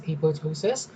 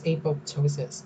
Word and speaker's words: apoptosis: So you can some pronounce this as apoptosis, some as apoptosis. So I'll just keep pronouncing it apoptosis.